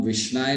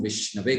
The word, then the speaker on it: विष्णवे: है, ये सही है, लेकिन जब विष्णु की बात आती है तो ओम विष्णाय नहीं कहा जाता, ओम विष्णवे कहा जाता है।